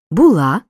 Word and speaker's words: була: люблю роблю кажу несу зверни увагу на особливості наголошення дієслова бути у минулому часі наголос падає на останній склад була було були Зате в майбутньому часі